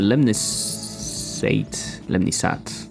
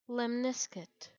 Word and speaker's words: lemniscate: I could do a lemnisate. I still don't know. Lemnisate. Let me try to find how it's pronounced.